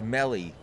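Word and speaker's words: mellai: The I sounds like an E, like in C. So it's melly.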